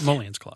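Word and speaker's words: emoluments clause: Yes, emollients clause.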